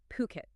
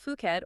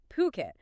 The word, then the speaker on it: Phuket: And look, for anyone listening, let's just get the pronunciation right immediately. We are talking about Phuket. Okay, not Fuket or anything else. Phuket.